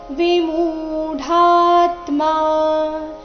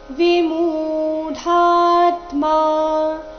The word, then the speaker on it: ವಿಮೂಢಾತ್ಮ: ಗುಣೈ ಕರ್ಮಾಣಿ ಸರ್ವಶಃ ಅಹಂಕಾರ ವಿಮೂಡಾತ್ಮ ವಿಮೂಢಾತ್ಮ ಮು ದೀರ್ಘ ಡ ಮಹಾಪ್ರಾಣ ದೀರ್ಘ ಬಂದು ಸೌಮ್ಯ ಆಘಾತ ಮುಂದೆ